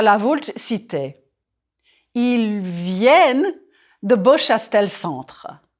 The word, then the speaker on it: viennent: Ils viennent. Il vient. Singulier. It's nasal. Ils viennent. Pluriel. Here you hear the n.